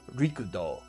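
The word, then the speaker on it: Rikudo: The way it's spelled, R-I-C-D-E-A-U, makes it look French, but it's not. It should more appropriately be spelled R-I-K-U-D-O, Richto. This is a reference to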